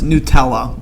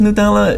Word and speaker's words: Nutella: For my American friends, Nutella. That's how you say it. Nutella.